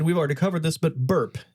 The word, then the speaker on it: BRP: already covered this but burp is the correct pronunciation yes yeah BRP you might